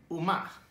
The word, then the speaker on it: Umma: so yeah uma it is pronounced like that from what i heard uma not uma oma which is korean for mother i'm glad that it